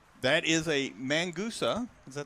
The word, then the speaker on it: Mangusta: That is a Mangusta. Did I say it right? Mangusta.